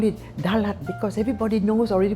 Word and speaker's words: Dalat: So my mother said, "Oh, why do we call it Dalat? Because everybody knows already pronounced Dallas. So if you say Dallas, it's very much like Dalat, like Dallas.